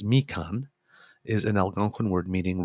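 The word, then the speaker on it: Mīkan: people you can pronounce oh great this print pronounced me Khan is an Algonquin word meaning Road or path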